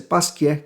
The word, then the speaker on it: Pasquier: pasquier né ou pascácio alguns vão chamar de pasc mas a pronúncia é pasquier kesnel bom e lá no